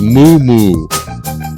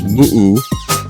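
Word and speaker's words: muʻumuʻu: And when I was a kid, it was moo-moo. That's how I learned it. Then they're all correct pronunciation of Hawaiian nowadays. So it's moo-oo, moo-oo.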